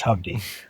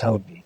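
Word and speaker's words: Hovde: or Senate Hy yeah that's I learned how that's that's pronounced that way really yeah that's how well that's how the announcer said it it's Hy I thought it was hobi or hoba anyway he in his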